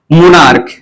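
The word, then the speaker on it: monarch: क मोनार्क। अब यहां पे इस सीए का उच्चारण क्या होना चाहिए? क।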